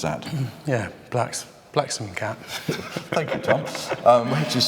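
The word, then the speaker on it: Blaksmcat: Somebody called Black's Cat, how do you pronounce that? Yeah, Blacksome Cat.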